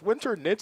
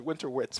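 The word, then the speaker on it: Winternitz: things where it's like I've said it a bunch of times in my head and I realized I was saying it wrong so it's winter nits I always said winter wits for many many years until someone said it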